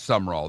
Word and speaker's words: Summerall: It's sum. I said it wrong. It's sum roll.